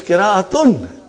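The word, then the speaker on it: قراءة: It is kira'atun. Are you with me? When you say kira, you did not pronounce ta marbuta.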